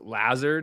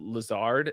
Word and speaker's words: Lazard: love davis maddox but he goes lazard instead of lazard oh no he goes